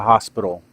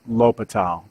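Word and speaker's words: L'Hôpital: called indeterminate forms and l'hopital's rule or the hospital it's it's pronounced l'hopital so the big thing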